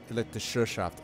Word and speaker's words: Elektrizitätsgesellschaft: The A with the double dot is an E.